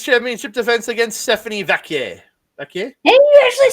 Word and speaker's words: Vaquer: Vaquer?